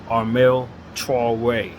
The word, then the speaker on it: Armel Traoré: So the best way I know how to go is just say Armel Traoré. That's how they pronounce it, with a certain drawl to it that I just can't do.